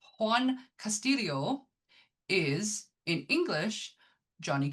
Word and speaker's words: Juan: Um also his name Juan Cast I can't why do I keep want to pronounce the J? Juan Castillo is in English Johnny Castle.